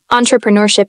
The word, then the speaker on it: entrepreneurship: it and true prun try breaking it down with me end like an end true like in truth and like in pen and Sh like in shop see if that sounds